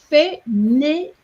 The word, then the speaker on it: fainéant: And then it's fainéant. 3 syllables.